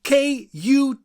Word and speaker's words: kut: Hi, I pronounce Dutch words and names the way a Dutchman would pronounce them. The word of the day is K-U-T.